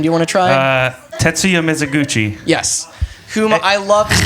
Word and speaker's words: Tetsuya Mizuguchi: Tetsuya Mizuguchi.